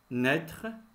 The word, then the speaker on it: naître: dirige une commune naître si on a ajouté un accent circonflexe sur le i voilà comment se prononce a I avec accent circonflexe naître 1 1 1 vous